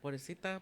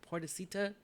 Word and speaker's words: pobrecita: Because it's correctly said in Spanish, pobrecita, but you say it like this, pobrecita, it sounds white.